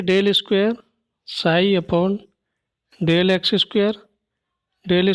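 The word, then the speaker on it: psi: ठीक है, यहाँ पे साई क्या होता है, ये इस टाइप से लिखा जाता है, पी इसमें साइलेंट होता है।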